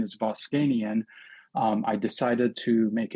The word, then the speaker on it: Voskanian: Uh, and partially why I went to medical school because my last name is Boscanian.